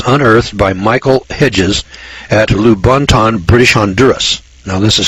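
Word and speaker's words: Lubaantun: The 11-pound skull was unearthed by Michael Hedges at Lubantun, British Honduras. Now this is spelled L-U-B-A-A-N-T-U-N. Lubantun, British Honduras.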